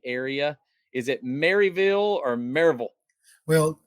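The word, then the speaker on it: Maryville: the marville Tennessee area is it marville or marville well correctly pronounced it's marville there you go that's what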